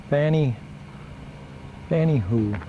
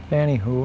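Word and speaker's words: Fanny Hooe: It's Fanny Hoo, and this is Fort Wilkins State Park up in the Upper Peninsula, up in Copper Harbor rather, Michigan. There's our trailer in it. Pronounce it Lake Fanny Hoo.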